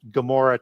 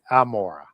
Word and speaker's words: Gomorrah: Even though it's it's uh pronounced Gomorrah today with with the LF apostrophe, it should be amora.